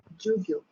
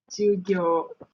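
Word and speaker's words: 授業: another word for class, as if like, lesson would be jugyo. Jogyo hajimemashou. So. Jugyo. Jugyo. Is the ju the other syllable of the u? Jugyo. Jugyo actually. Ada rasanya, ada dia Jugyo. Dia Ju- jugyo So, or jugyo saja?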